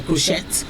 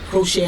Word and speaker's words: crochet: So crochet, sachet, we would say sachet, we would say crochet. But it is actually crochet and sachet.